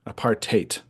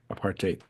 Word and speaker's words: apartheid: in the US and my South African friends said it rhymes with hate apartate apartate but if you want to call it apartate that's fine um so